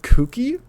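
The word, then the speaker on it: Cucchi!: There was a game called Kooky. It's spelled Cucchi with an exclamation mark afterwards.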